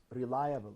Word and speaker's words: reliable: depend on something yes reliable so the the stress is on the second syllable which is lie reliable yes reliable reliable reliable so